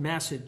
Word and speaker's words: Massad: client received information that the suspect, former Port Richey Mayor Dale, and it's pronounced Massad, Judge, like acid with an M. That's how he pronounces it? Massad.